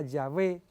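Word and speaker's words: Yahweh: consonantes la w perdón la ye la h la w y la h que se pronunciaba llave y que se conocía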